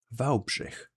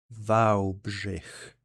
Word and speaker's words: Wałbrzych: It is pronounced as Wałbrzych. Wałbrzych.